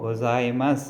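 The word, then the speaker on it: ございます: எல்லாத்துக்கும் ரொம்ப ரெஸ்பெக்டோட அரிகத்தோ கோசாய்மஸ் அப்படின்னு சொல்லுவோம். கோ ஜா இ மா சு, கோசாய்மஸ், ஓகேங்களா? இந்த சூவை வந்து கடைசியாக ஸ் அப்படின்னு ப்ரொனவுன்ஸ் பண்ணால் போதும், கோசாய்மஸ். மா சூவை வந்து மஸ் அப்படின்னு ப்ரொனவுன்ஸ் பண்ணால் போதும். ஸோ கோசா இ.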